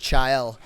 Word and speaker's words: Chael: That's pronounced Chael.